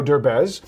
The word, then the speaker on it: Derbez: where the snob is a rich playboy, played by the Mexican superstar Eugenio Derbez, who is now making Eugenio it, Dirtbag?